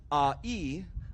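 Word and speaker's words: ʻāʻī: lay but because your your neck in Olo Havi is pronounced as a e a lay a e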